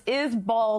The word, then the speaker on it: Isbell: It's Isbell, not Isbell.